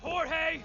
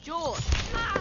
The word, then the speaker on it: Jorge: one up gets it Jorge my name is pronounced jewel don't you backtalk me